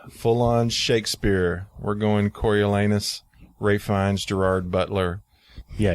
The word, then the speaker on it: Coriolanus: Coriolanus.